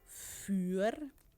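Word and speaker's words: vuur: well but if maybe someone is pronouncing it and doesn't pronounce it right then you might interpret as something else than what the person actually means so fur is fire and for is food which is a wall and more which is one of those um screws it's a screw so a more is a screw and a mirror is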